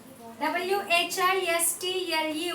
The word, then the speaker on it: whistle: W-H-I-S-T-L-E, whistle. Whistle. Again, if you observe word whistle, T is silent. We are not pronouncing the sound T.